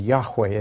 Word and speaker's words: Yahweh: letters of god's name that's pronounced Jehovah in English and Yahweh in Hebrew now to help you